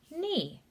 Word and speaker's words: knee: here this letter combination that k is silent and we just say e knee this is talking about